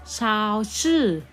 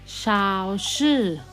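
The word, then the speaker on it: 超市: ไหม คะ เด็ก ๆ อ้ะ ซุปเปอร์มาร์เก็ต ออก เสียง ชาว ชื่อ ชาว ชื่อ ชาว ชื่อ แปล ว่า ซุปเปอร์มาร์เก็ต นะ คะ อ่ะ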